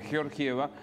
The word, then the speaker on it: Georgieva: negociación y yo georgieva hay que pronunciarla como corresponde georgieva es la titular no